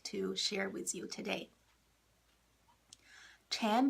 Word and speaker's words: Chan: Chan Buddhism, Chan, we spell it as C-H-A-N. It's the same word as Zen, Z-E-N. A lot of people are probably familiar with Zen. Zen is the Japanese way to say Chan.